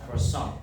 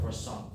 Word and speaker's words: croissant: heard about, which is Croissant. No, not croissant, but we pronounce it as croissant. The French hate us when we pronounce it as croissant. It's not croissant, it's croissant. Croissant.